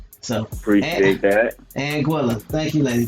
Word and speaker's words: Anguilla: She said it's Anguilla. Anguilla. That's how you pronounce it.